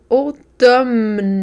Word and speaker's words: automne: Ici, O, on l'écrit M. Automne, mais on dit automne.